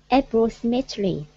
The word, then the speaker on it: approximately: Approximately. Approximately. Approximately. Good. So you're emphasizing approximately, like that.